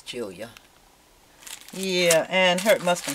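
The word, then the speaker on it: Giulia: And her name is Julia, but it's spelled with a G-U. I don't get that. A G-I-U. I think it's Julia.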